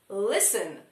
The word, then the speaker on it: listen: Listen! Listen to me! Listen to me! There's no T in listen! Listen.